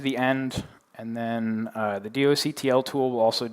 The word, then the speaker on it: doctl: provide a tool called The doctl Tool or do cuddle tool or however you choose to pronounce that word so here you can